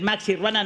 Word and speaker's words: maxiruana: Busquen en Google Maxiruana, que es como una Sí, es como una maxiruana, no estoy pronunciando bien, es Maxiruana, no la otra cosa que rima con eso.